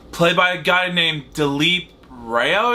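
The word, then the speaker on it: Dileep Rao: by a guy named delip Roo is how you pronounce it no matter he's the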